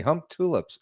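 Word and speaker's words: Humptulips: Um does the OP have any credible sightings in the Hump Tulips area?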